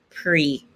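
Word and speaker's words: pris: past participle is pre don't pronounce the s pre so if i want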